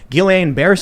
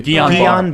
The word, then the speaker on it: Guillain-Barré: to Charlie, Guillain-Barré syndrome, which I'm probably pronouncing wrong, it's a side I effect. always mispronounce it. Yeah, me too. Guillain-Barré. Guillain-Barré.